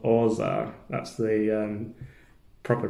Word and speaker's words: orgeat: juice and some almond syrup, which is called orza. That's the proper pronunciation if you're from Yorkshire like I am, and I thought it was called orgeat, but obviously that's not the right way to